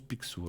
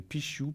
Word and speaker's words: Picsou: Alors, alors paraît-il qu'on le prononce Picsou, alors comme ça je saurais. Comme Picsou. Alors merci bien la régie. C'est vrai que je ne savais pas si on disait Pichou, Pixiou, Picsou. Alors Picsou.